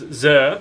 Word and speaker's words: Zirh: Zirh Classic, also just known as Zirh, rhymes with Sir.